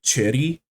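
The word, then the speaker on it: Choerry: ] you're supposed to I think technically the the Korean pronunciation is closer to like Cherry there's there's kind of like a weird dip thong in the middle but since I'm American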